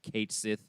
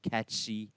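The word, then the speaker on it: Cait Sith: what's the character's name kate sith or catshi whichever is your preferred pronunciation the first place holder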